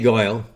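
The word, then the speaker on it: Goel: brand new study by Dr Ajay Goyle that's spelled g-o-e-l and the effects of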